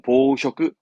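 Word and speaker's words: 紡織: 이 발음은 보쇼크, 보쇼크 합니다.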